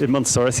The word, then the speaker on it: Edmontosaurus: The Edmontosaurus? In Montosaurus, yeah.